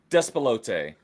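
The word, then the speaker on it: Despelote: Despalote. Despote.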